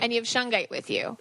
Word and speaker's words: shungite: So I have shungshit. Shungshit. How do you spell that? I remember I haven't had problems with the feng shit. Yeah. You spell it shungite. Shungite.